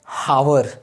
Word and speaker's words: hour: R, not hour. H is silent here.